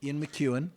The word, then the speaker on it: McEwan: Ian McEwan.